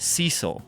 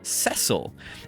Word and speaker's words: Cecil: I always thought the main character's name was pronounced Cecil and then in like 2006 they remade the game for the DS and they gave the game voice acting and they they they pron pronounced the guy's name cesil and I was like